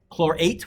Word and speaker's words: chlorate: go kclo3 potassium and you have to pronounce it very carefully because there's chloride chlorite and chlorate so which one is clo3 chlor8 with an a okay let me pause